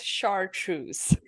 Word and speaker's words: chartreuse: Water white is Trenton, Trenton was kind enough to add the pronunciation for me. It's chartreuse, which is the bright, slightly greenish yellow.